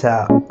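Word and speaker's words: ث: This letter is tha. Repeat after me. Tha, like in th in thank.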